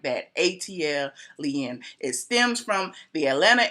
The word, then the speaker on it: ATLien: - else - else an ATL Yin is pronounced just like that ATL lien it stems from the Atlanta Airport code and